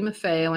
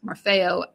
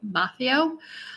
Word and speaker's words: Maffeo: I have to interrupt myself for a moment to say that one of our listeners told us the proper way to pronounce Marfeo, Maffeo, I believe, but Nina and I